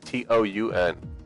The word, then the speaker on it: Teun: He said it's like Toun.